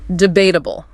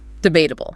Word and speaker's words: debatable: Number one, debatable. Debatable. Stress on that second syllable. Debatable.